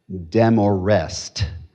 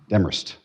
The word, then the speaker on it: Demorest: Because when I moved here, they said I used to say demorest. Uhuh. I got corrected within three days. Demerst.